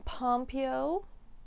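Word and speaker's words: Pompeo: know quite a few of these ell ly pompo that's how you say her name uh Meredith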